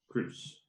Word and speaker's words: Crous: My name is spelled Crous. You just kind of ignore the O.